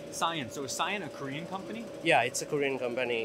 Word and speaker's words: 싸이언: Now, am I pronouncing this right? Is it can or can? It's cyan.